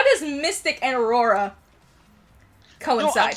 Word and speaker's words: Mystic: Mystic? Yes, let me finish the chat here for 2 seconds. Nameless loser, it's pronounced Mystic. It is not MY2T1C, thank you. but yes, it's Mystic.